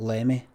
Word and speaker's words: Limmy: Sounds odd English people pronouncing Limmy, Limmy and not Lemmy.